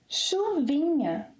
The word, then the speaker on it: chuvinha: 'Chuva', it's a feminine noun, becomes ‘chuvinha’. 'Chuvinha' It is important to practice a lot this 'nh' pronunciation.